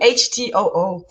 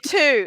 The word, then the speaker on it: Htoo: my last name is too Htoo. That's my personal Facebook page, So and you say two. It's not eight. So the H is silent.